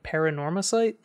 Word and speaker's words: Paranormasight: I've also been playing paranorma site can you can you break that out for me phonetically okay paranorma probably paranormal ghosts stuff okay drop the L yeah out of sight add sight which what I'm guessing